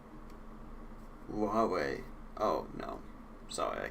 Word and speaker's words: Huawei: mining it's like maybe 10 200 seconds it's pronounced Huawei oh no I'm sorry I can't do that